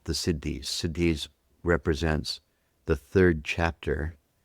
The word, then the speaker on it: siddhi: uh 20 years is what we call the Siddhis.